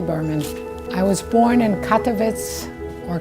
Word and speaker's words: Katowice: i was born in katowice or katowice as they pronounce it in polish in poland when were you born february 7 1937.